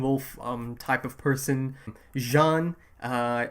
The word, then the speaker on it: Jean: um type of person jean uh it's spelled like j-e-a-n so it's like gene but like they pronounce it john uh reiner reiner the